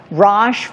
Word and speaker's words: Raj: Raj rhymes with posh, which means classy and stylish.